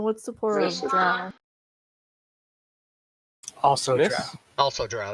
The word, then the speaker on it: drow: Fucking drow. Hit and run. For those of you watching the stream, drow rhymes with cow, and if you say dro, the answer is no. So just Another fire and miss.